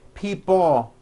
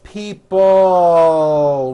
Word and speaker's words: people: this last word people it's not pronounced people with your tongue not moving it's people with your tongue slowly moving up and your jaw remaining down stretch out that L sound people like that here are